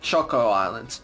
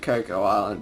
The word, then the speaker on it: Choco Island: chocolate but koko island or some people also pronounced at choco islands but we pronounce it Cocoa Island because that's Suns more like it so yeah